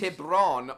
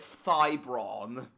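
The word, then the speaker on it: Tiburon: Tibron. Oh, I was pronouncing it Thybron.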